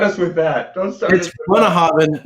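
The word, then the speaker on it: Bunnahabhain: Bunnahaven, not Boonahaven. How in the hell do you pronounce Bunnahaven as Boonahaven?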